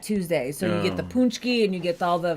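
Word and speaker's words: pączki: you so much Mark ever had a poki it's a Polish donut we get them every year it's pronounced punchki oh punchki sorry thank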